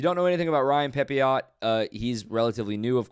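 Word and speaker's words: Pepiot: i think about it i think it might be pepeo uh but let's go with pepio like the french pronunciation uh but 20 and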